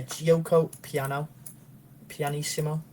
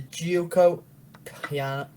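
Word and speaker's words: Giuoco Piano: It's going to be an Italian sorry, I'm going to say it properly this time. A Gioco Pianissimo. Yeah, it's the Gioco Piano.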